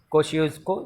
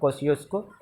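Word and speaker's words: Kosciuszko: कोशियोस्को। इसको प्रोनाउंस करना थोड़ा सा मुश्किल है, कोशियोस्को।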